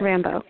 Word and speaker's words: Rimbaud: Rimbaud, if I'm pronouncing Rambo. It right. That's right. Rimbaud, got it.